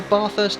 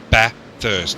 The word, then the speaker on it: Bathurst: Bathurst, not Bathurst. Bathurst.